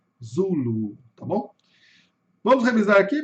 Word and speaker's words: Zulu: No inglês, a sílaba tônica está no começo, zulu. Zulu.